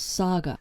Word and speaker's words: saga: of the summer wells saga which by the way rhymes with gaga people were thanking him